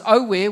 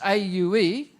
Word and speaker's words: aue: And where you come in is when it goes aue, which is A-U-E, I want you to pronounce aue.